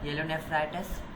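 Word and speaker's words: pyelonephritis: येलो पी को silent कर दिया है, येलो नेफ्राइटिस ये इक्वलाई से होता है।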